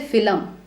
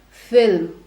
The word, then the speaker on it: film: an old Bollywood film don't say Phil um although it we are not doing that sound but just to tell you it's not Phil um it is Phil I went to watch